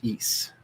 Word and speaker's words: Ys: and i think of the lost city of east which is spelled ys it's claimed to be